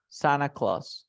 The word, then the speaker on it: Santa Claus: Dice que si tú tienes una N, una T y un sonido de vocal, no pronuncias la T, ¿ok? No pronuncio la T.